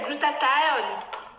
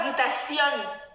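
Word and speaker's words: glutathione: glutation glutationne glutationne glutationne ça n'existe pas en anglais c'est glutath ce n'est pas glutationon on vous on vous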